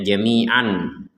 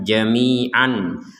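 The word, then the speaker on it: جميعا: yang awalnya ini tertulisnya Jamian perhatikan Jamian lalu kita membacanya Jamia Kenapa kita membacanya Jami bukan jami'an karena kita berh berhenti Yati bikumullahu Jamia maka huruf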